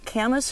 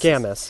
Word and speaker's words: camas: only is this an you say camas or how do you pronounce camas yeah Khamis is a common canvas or great canvas